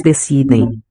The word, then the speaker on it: decidem: We see again with the nasal consonant at the end of the syllable, at the end, decidem, that keeps the e Decidem. raising to e, which in turn protects the d from becoming a j.